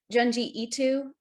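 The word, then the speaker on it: Junji Ito: to butcher his name janji itu i think that's how you pronounce ito yeah there you go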